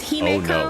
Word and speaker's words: Himeko: I may also be saying that wrong because that name I've heard pronounced both Himiko and Himiko. In the game, they are not consistent. It is Himeko, no. like it's ME, so it's a meh sound instead of MI me.